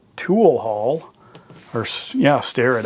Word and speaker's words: Starrett: but anyway there's my Starrett tool haul or yeah stare at I guess is how it's supposed to be pronounced um but this is